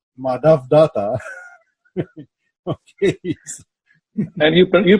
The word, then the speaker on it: Madhav Dutta: We call him Mehdi, but in reality, his name is pronounced Madhav Dutta.